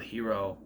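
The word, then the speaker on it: Hiro: know there was a character on Heroes called hero spelled the same way h-i-r-o hero and the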